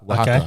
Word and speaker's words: Oaxaca: But basically with that, it was called, I can never pronounce it, Oaxaca. Right, Oaxaca.